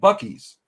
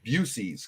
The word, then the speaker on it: Buc-ee's: But they said, but don't you dare walk in there and ask for a Busey's because that's the way it looks like it's spelled. Oh, people get mad because they love their Buc-ee's up there because they